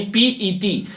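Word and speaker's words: PET: है परीक्षा दी थी, यानी पीईटी, पीटी नहीं होता है, पीईटी होता है।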